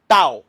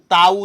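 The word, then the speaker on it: tau: किया जाता है सिंबॉल टा स्पेलिंग होती है टी ए यू ताऊ नहीं है टाव है क्या है टा ऐसे बोलते हैं टा तो इसको लिखा जाता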